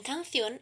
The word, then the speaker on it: canción: La división en sílabas es entonces canción. El acento tónico está en la última sílaba.